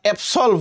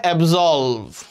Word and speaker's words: absolve: শব্দটা হচ্ছে কি দেখো শব্দটা হচ্ছে অবসলভ আমরা অবসলভ বলি বাট এটার উচ্চারণ হবে অবজলভ অবজলভ অবজলভ অবজলভ মানে হচ্ছে অবজলভ হচ্ছে একটা